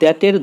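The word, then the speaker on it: the: অর্থাৎ ভাওয়েলের আগে উচ্চারণ দি এবং কনসোনেন্টের আগে উচ্চারণ দা।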